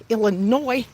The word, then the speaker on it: Illinois: Illinois. Don't be pronouncing that S. You say Illinois. The S is silent.